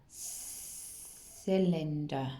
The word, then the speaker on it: cylinder: cube this one that starts with a soft c so it's difficult to read it's a cylinder cylinder that's right so